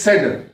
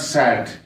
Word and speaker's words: said: Remember also that it is said, not sad.